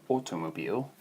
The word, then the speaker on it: Automobil: And the same goes for Auto, from automobile. Obviously just pronounce that differently, Automobil.